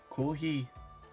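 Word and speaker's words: コーヒー: Kohi.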